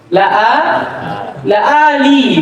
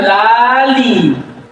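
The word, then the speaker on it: لآلئ: La'ali, bukan lali.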